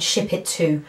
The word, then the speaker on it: Shipito: So I decided to go and place an order, and I'd heard about a company called Ship It To. It's spelled Ship and then ITO, Ship It To, Ship It To, whatever.